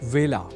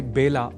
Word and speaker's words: वेला: ही चुके हैं कि व का कई बार ब के रूप में उच्चारण करना अशुद्ध होता है। अतः ए अक्षर से जुड़े वेला इस शब्द के उच्चारण में भी विशेष ध्यान रखा जाना चाहिए। अर्थात इसे बेला नहीं बोला जाना चाहिए।